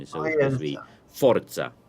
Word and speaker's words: Forza: Forza. Forza, like Ibiza.